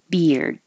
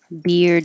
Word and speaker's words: beard: to that position anyway you can't skip the D otherwise it'll sound like beer so beard you will hear the D if there's a vowel after it like um uh his beard is cool beard is